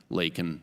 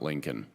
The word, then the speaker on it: Laken: Hamilton, and of course, Laken Riley, not Lincoln.